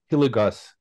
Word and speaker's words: Hilligoss: my pleasure and a privilege to welcome hilligus if I'm pronouncing it correctly hi you are Mike